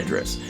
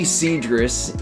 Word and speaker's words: Cedrus: correct anyone that says say cedis so I'm going to try hard to go fully cedris you know in this video I'll probably mess up but just know that you know you can really pronounce it either way years ago I had